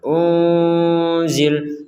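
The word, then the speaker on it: أنزل: Wila nah seperti itu ada nun sukun bertemu Zai maka kita membacanya dengan samar unzil unzil seperti itu baik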